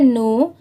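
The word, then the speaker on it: know: what we ये है नो अब यहां पर देखिए इसे कनो नहीं पढ़ेंगे यहां पर के लेटर साइलेंट है तो यहां पर सिर्फ नो ही पढ़ेंगे ठीक है इसकी प्रोनंसिएशन है नो बट हाउ we think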